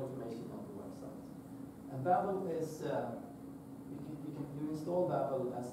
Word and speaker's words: Babel: It's pronounced Babel.